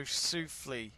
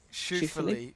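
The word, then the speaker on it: Schauffele: Ziggy says Shuffle uh shaa says no French accent on E so sule is it sule sule sule sule is that how you say it I'm starting to like shuly shuly yeah shuly I think you're right I think you're right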